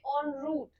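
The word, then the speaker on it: en route: word की वो उसे हम नाउंस करते हैं ऑन रूट ऑन रूट का मतलब होता है मतलब कहीं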